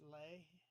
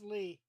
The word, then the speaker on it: Leigh: That isn't that pronounced Lay? No, it's Lee.